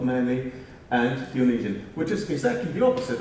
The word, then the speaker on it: Dionysian: How's this pronounced? Clive? Dionysian, thank you.